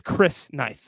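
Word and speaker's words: crysknife: didn't yeah well someone help us with the pronunciation of that he says Cuban says Chris knife it's how it's said nope lights there we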